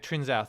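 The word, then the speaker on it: Trincão: Trinsau, thank you for correcting me on the pronunciation, Tuan.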